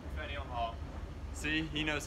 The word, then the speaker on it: Faneuil Hall: Faneuil Hall. See, he knows how to pronounce that.